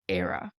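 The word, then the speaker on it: Éire: just to say Ireland on its own it's era mean thank you so much I hope that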